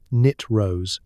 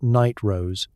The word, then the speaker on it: nitrous: It's pronounced knit rose, not night rose.